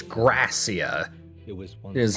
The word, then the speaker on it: Gracia: Okay, so it's Gracia. It was once Is how you pronounce that?